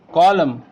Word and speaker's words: column: then the silent letter, then the N will be silent letter in that word. You can see here, autumn, we are not pronouncing N here. Column, dam, hymn, condemn.